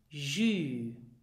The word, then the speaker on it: jus: Well, it is pronounced jus. And why? Well, this is a word we took over from the French language. In French you have un jus, and in Luxembourgish we pronounce it so the same way, jus.